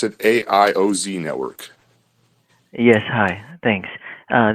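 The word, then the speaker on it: AIOZ: mic on over to A's Network you guys pronounce it AI o z Network yes hi thanks uh this is Erman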